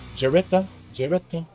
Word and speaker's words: Geretta: It's Geretta. Yes, Did it's I pronounce that right?